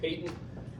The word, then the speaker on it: patent: I know that looks like patent, but they pronounce it patent foramen ovale, also known as a PFO.